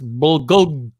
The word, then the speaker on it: bulgogi: It's bulgogi. Bulgogi. Sean says this is how you pronounce it, apparently.